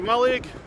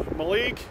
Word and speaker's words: Mallaig: Just going to go for a bite to eat before I get the train to Mallaig, or Mallaig. There's no definitive pronunciation, we all do it differently.